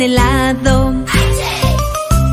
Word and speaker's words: helado: frambuesas y gelatina, también helado. Helado se escribe con H, lo que pasa es que es muda.